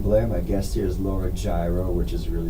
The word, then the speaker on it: Giro: my guest here's Laura gyro which is really spelled here it's pronounced hero but she's being polite to all of us who can't pronounce something Thank You and